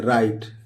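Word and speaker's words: right: इसी तरह दोस्तों ये लिखा है RIGST, तो ये रा हो गया, और ई लिख देंगे, और ये जी मतलब साइलेंट है इसमें, और ये ट लिख देंगे, राइट।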